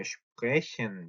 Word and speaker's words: sprechen: sprechen. 요렇게 단어 첫 마리 오는 sp 혹은 st는 어떻게 발음한다 같죠? 슈프 혹은 슈투 이렇게 된다고 했죠.